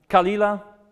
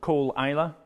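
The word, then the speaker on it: Caol Ila: C galaki they ask for cig galache um kalila a lot of people pronounce it Cole Isa because it's on Isa but Ela is just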